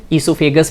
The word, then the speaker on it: oesophagus: Spelling के लिए OESOPHAGUS, ओइसोफेगस करके याद रखना, बट इसका प्रोनाउंसिएशन ईसोफेगस बोला जाएगा। तो ये बात आपको ध्यान रखनी है।